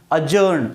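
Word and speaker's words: adjourn: भी आपको दी और जे का कांबिनेशन मिले दी के बाद के मिले तो आपको दी जो है उसको प्रोनाउंस नहीं करना है कांबिनेशन केवल मैंने अभी आपको क्या जॉइनिंग एडज्वाइनिंग नहीं का एडज्वाइनिंग एडीजे रन का प्रनंसीएशन क्या होगा क्या होगा एज्यूरें अजान का मतलब होता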